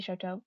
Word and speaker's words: Shoto: Also, I did want to say that when we wish we could save her before she breaks, it says Showtime muttered, but I think it's supposed to be Shoto, but I mispronounced that.